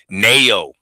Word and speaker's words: Naoya: So Naoya Inoue, is that how you say his first name?